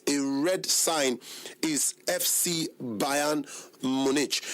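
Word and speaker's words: FC Bayern München: It's pronounced Bayern Munich, but they spelt it as Bayern Munchen. Yes, I know they hear German, so but we were here, we be English people, they call them Bayern Munich.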